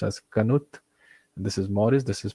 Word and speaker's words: Knuth: is named after so this guy is named pronounced as Knuth this is Morris this is Pratt and this